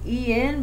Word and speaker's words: en: It's spelled E-N but pronounced en.